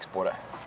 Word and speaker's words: Spåre: So maybe my first question for him is, how do you pronounce your name? Fredrik Spåre.